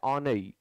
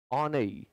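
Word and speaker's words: ennui: ए fatigue, B ऑनई, इसके pronunciation में भी लोग मिस्टेक करते हैं, इसको आपको पढ़ना है ऑनई ऑनई, सी लैंग्वर एंड डी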